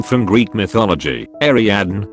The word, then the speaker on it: Ariadne: name from greek mythology ariadne which is pronounced pretty much exactly the way it looks but they told her